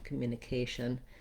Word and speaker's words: communication: lacks on that vowel communication then i have my k syllable k sound and the a is a diphthong in american english which means it glides between a tense a and a more lacks a sound a for most people just making sure that you hold that longer a will be enough and naturally we hold this longer in this word because it's stressed communication then i have